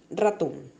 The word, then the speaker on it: ratón: Ejemplo, ratón. La intensidad recae sobre ton, de igual manera pelón.